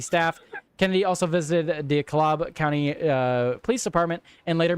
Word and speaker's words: DeKalb: It is pronounced DeKalb.